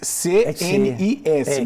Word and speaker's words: CNIS: Se escreve S-N-I-S, C-N-I-S, mas se fala CNIS.